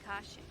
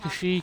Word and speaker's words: Kashyyyk: some kind of trouble back on caution that's all i know really he's pronounced kashyyyk in case you didn't notice he's a strong silent